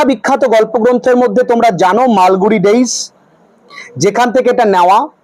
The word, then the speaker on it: মালগুড়ি: উচ্চারণটা কি? মালগুড়ি। যেমন বলেছিলাম বিড়ি উচ্চারণ বি আই ডি আই বানানটা বি আই ডিআইরকম।